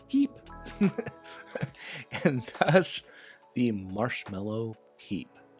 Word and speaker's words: pipe: uh but more importantly in French pipe is pronounced Peep and thus the marshmallow